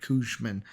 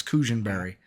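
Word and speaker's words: Cushenberry: No, Cushionberry. I said Cushman. Cushionberry. Yeah, I said the last name wrong. It's Cushionberry.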